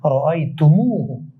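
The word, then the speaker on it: رأيتموه: এরপর জমির আসলে তাকফিফান তাকফিফান অর্থাৎ উচ্চারণের সুবিধার্থে তুম এর পর একটি ওয়াও বৃদ্ধি করে তুম এর মিম বর্ণে পেশ দিতে হয় যেমন রইতুম যোগ হু সমান সমান রাইতুমুহু আমাদেরকে যদি বলা হয়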